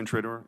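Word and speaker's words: Intrator: Intraor. Did I pronounce that correctly by the way?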